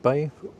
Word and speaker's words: Bae: Is it bay? It's just bay.